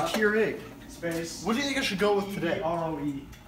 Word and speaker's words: Keurig: Is that how you say it, Keurig? Yes, the Keurig.